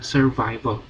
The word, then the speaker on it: survival: Bacanya bukan sur, survival. Bacanya survival.